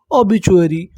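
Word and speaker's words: obituary: ओ बी टी यू ए आर वाई। मैंने आपको क्या बताया? इसे क्या पढ़ना है हमें? चुरी। तो देखिए हमारी मीनिंग क्या बनी? ओ बी चुरी ओबीचुअरी।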